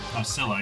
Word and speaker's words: Scylla: Well, How do you pronounce that name? Scylla? Scylla, yeah. Scylla.